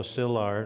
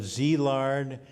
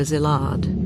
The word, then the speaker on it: Szilard: lot of people and over the years I've heard Zee lard Zealand siz lard and even lizard in his concluding statement